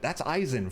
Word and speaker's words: Eisen: There's an Eisen other than the one from Bleach. Well, this one's pronounced E-I-S-E-N. Like, it's more of a European thing than a Japanese spelling.